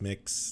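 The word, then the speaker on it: Mx: You pronounce mix, just like you'd think.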